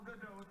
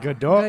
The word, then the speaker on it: Gadot: Please welcome Gal Gadot and Armie Hammer. Yes. I never knew how to say her last name until now. Godot.